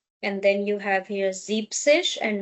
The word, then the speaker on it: siebzig: 60, 70 also do not take the e of sechs and e n of sieben. So, this is not sechzig, it is sechzig. And then same and then you have here siebzig and not siebzig.